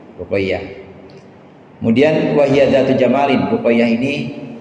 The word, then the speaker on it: Ruqayyah: Dan ya tasdid. Jadi bacanya Ruqayyah. Ya tasdid. Ruqayyah.